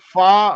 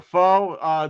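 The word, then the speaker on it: pho: fido maybe chicken noodle oh faw or foe depending on how you um yeah my wife makes a mean chicken noodle too pronounce it i i've heard it pronounced both ways far faux i believe that's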